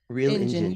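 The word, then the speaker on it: Reel Injun: he's also notable as a co-director, as a co-writer and editor of how do you pronounce it? Real Engine? The film that you have made, Engine, Real Engine. Real Engine.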